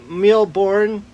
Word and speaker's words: Mille Bornes: miles but it's actually a card game called millborn i think that's how you pronounce it it's a french name essentially meaning